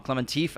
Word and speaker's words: Klementieff: with Haley Atwell, Pom Klementieff, I think that's the better way to pronounce her name. Klementieff? Yeah. Not TF? Well, you said Klementieff. Klementieff. Klementieff. She's French. Klementieff, I think that's how you say it.